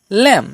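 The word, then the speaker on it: lamb: রুলসটা কাজ করছে এখানে এম এর পরে বি রয়েছে সেই জন্য এখানে বির উচ্চারণটা হবে না উচ্চারণটা হবে ল্যাম কারণ এল এর জন্য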